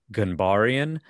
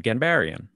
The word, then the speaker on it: Ghanbarian: is from Iran, and the proper, I guess, like Persian pronunciation would be more like Ghanbarian. But the twist on all of that is I'm from Long Island. So it's always just been Ghanbarian.